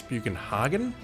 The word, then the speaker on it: Bugenhagen: thanks for keep so I've been pronouncing bugenhagen entirely wrong the entire time it's buan Haagen I thought it was